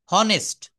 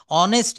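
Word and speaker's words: honest: কিন্তু আমরা কিভাবে বলি? এই এইচ এর উচ্চারণটা অ হয়ে যাবে। এইচ অনুচ্চারিত থাকবে। দেখেন অনেস্ট এইচ ও এনই এস এই ও থেকে শুরু হবে। ও সমান সমান অ। এটা বলতে হবে অনেস্ট।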